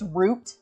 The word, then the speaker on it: route: Um, but like we would say route for like route six, route 20 or whatever. And we kept getting corrected like um it's root.